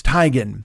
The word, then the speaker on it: Teigen: Because everybody always said Chrissy Teigen. And she's like, no, it's Teigen. Like she pronounced her name that way.